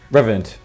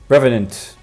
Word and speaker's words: revenant: A bloody revant. Revant. Revenant. Yes, that's how you pronounce it.